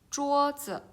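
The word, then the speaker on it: 桌子: The first one, 桌子. 桌子. So you need to read slightly and soft.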